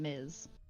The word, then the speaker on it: Ms.: So, and there's actually like like I said like a slightly like different like way to pronounce them. It's miss and miz.